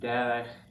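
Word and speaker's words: דרך: Now, other examples, eretz, land, derech, way, nefesh, soul. Okay, they all have accent on the first syllable, two segles.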